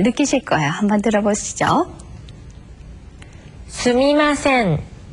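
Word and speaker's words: すみません: 수미마센. 네. 이것은 맨 처음에 한 니은 발음과 아주 흡사합니다만 마지막에 한 음절의 길이를 끌어 줘야 되는 그런 차이가 있습니다.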